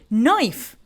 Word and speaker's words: knife: You say knife and that's correct. Perfect. It's like the word no. We do not pronounce C sound right here.